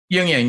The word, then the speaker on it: Jungian: Well, did I pronounce it right earlier? Jungian. Jungian, yeah.